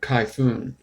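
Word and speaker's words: Kayfun: K-Fun is pronounced like typhoon. Kai-Fun? Kai-Fun? So it's called a Kai-Fun. Like a typhoon. Kai-Fun. Or Kai-Foon.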